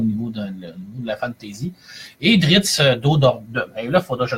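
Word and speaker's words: Drizzt Do'Urden: Et Drizzt d'O'Do'Urden, là, il faudra que je le prononce comme du monde, hein, parce que sinon, je vais avoir l'air de l'innocent. C'est Drizzt d'O'Urden, qui est un elfe noir dans le monde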